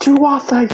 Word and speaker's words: Tuatha: It's pronounced Tuatha, you son of a bitch!